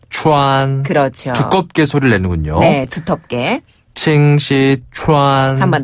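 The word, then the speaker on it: 清溪川: 같아요네 서비스죠네 칭시 une네 칭시 추 칭시 추 추가 약간 투랑 섞인 거 같아요네 약간 혀를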